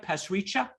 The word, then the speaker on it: Pasricha: khan and dr uh am i pronouncing it right past richa okay good okay let's do that